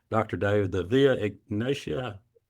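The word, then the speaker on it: Via Egnatia: Is it the I'm see if I'm pronouncing this right, Dr. Dave. The Via Ignatia.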